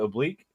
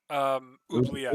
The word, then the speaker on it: oubliette: Oblique? Oubliette.